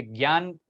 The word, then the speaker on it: ज्ञान: ये ज्ञान जिसको हम प्रोनाउंस करते हैं ना, योग में आने के बाद आप उसको ज्ञान प्रोनाउंस करना शुरू कर दोगे, ठीक है, because that's the correct way.